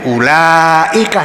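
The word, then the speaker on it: أولئك: Kan ada wawunya, tapi ternyata yang ada wawunya dibaca pendek, yang ada alifnya dibaca panjang, jadi ulaika.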